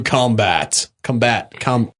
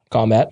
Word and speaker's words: combat: No, but you want to put the emphasis on the last syllable if it's to fight. Combat is, it's the noun, whereas he must combat it is the verb, right?